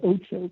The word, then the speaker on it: Ocho: We partnered with ESPN, for example, to host some of the ESPN The Ocho content, and that's like this variety sports fun content that we showed over a weekend.